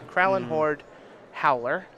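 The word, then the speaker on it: Krallenhorde Howler: His Duskwatch Recruiter should transform here into a Kralin I can't even pronounce that word. It's Kralin Horde Howler.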